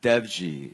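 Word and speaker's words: Dewji: Devji. The W is like a V. I don't know why Indian people Devji.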